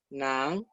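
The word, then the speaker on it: 男: Nan significa varón. Este carácter que está acá adentro, en el carácter de novio, es justamente este. Es este mismo. Se pronuncia N-A-N en segundo tono.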